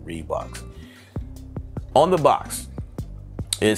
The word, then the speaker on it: Riwbox: get that going so according to reeboks right read box that's that's how we are pronunciating their name here on this channel reeboks on the box it